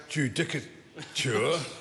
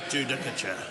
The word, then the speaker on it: judicature: Um, if one googs the word um, judicaturure and and pronounces it and and pronounce it properly judicure, it refers to